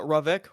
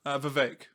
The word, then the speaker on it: Vivek: Is it Ravek? Ravek? Is that his name? Vivek. Vivek.